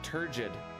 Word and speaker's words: turgid: Oh, it's with the it's turgid, not tur. Turgid.